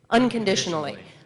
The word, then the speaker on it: unconditionally: now 1 2 3 unconditionally okay so on the stress is on on right and a tional a